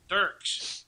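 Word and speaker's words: Dierks: Dirks.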